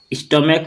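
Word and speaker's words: stomach: इसलिए क्योंकि ये जो CH है इसका उच्चारण क की तरह हो रहा है। स्टोमैक लास्ट में क आ रहा है, के साउंड आ रहा है।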